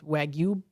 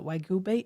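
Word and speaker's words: Wagyu: of course the meat which is Japanese wagu uh wagu uh beef I think is how it's pronounced um and uh Chuck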